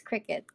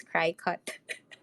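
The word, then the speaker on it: Cricut: was originally pronounced as cry cut but apparently not I watched some videos I watched some videos and they they called it a cricket so like okay like kind of like the bug but anyway yeah that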